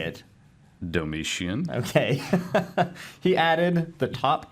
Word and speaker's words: Domitian: Domitian.